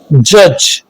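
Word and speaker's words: judge: कब होता है, जी से पहले आने वाला डी साइलेंट होता है, जैसे ब्रिज, जज, एज।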